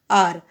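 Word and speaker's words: hour: because h is, hence h is a silent letter in r, because we pronounce an r. So h becomes silent over here. So r is what? R pronouns and it sounds like vowel. It sounds like vowel, not consonant. H is consonant, but here H is silent.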